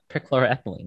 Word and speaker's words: perchloroethylene: this stock ethylene I think is what it's pronounced um here that's there's a there's in chat room let's see uh perchloroethylene yeah okay good job and deca methyl cyclope